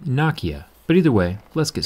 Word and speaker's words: Nokia: Depending on what side of the planet you're on, Nokia could also be pronounced Nokia, but either way, let's get started.